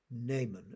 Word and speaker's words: Naaman: And then finally, and perhaps mainly, we have the reading from 2 Kings, and that is about Naaman. At least I was brought up to pronounce his name in that way, Naaman.